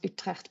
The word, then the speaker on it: Utrecht: pronounce it because I'm Dutch so I can pronounce Utrecht properly as well as masters from Stellenbosch University